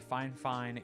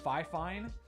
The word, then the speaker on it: FIFINE: She literally typed it out like I know that it looks like fifine, but it's pronounced fine fine.